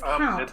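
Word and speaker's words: comte: you say that com it's count right bridge for count yes okay so um up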